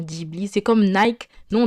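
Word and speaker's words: Ghibli: diibli et non pas Gibli pourquoi je fais la remarque c'est comme le mot ramène on va dire ramène ou alors Tokyo on va dire Tokyo vous voyez on prononce comme l'origine du mot c'est juste pour ça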